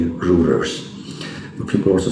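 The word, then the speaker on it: Reuters: If you see the international media for example Wall Street channels and I think it's routers or rouers or rulers uei is pronounced as u so I would say routers but people also say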